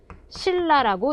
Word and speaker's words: 신라: 어 쓰기는 신라라고 쓰지만 읽을 때는 신라라고 읽어야 합니다.